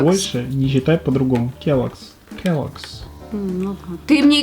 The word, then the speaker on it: Kellogg's: Ну как она читается? Kellogg's. Хорошо. Все, теперь знай, с этого момента Kellogg's. больше не читай по-другому. Kellogg's.